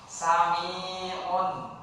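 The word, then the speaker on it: سميع: Sami'un, dia panjang. Panjang kenapa? Karena ada ya mati.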